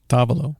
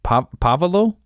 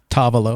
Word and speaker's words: tavolo: How do you say table in Italian? Tavolo. Pavolo? Tavolo. Tavolo? Okay.